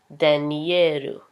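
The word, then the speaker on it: ダニエル: them sound more Japanese so my name is but in Japanese it's denieru okay okay and so the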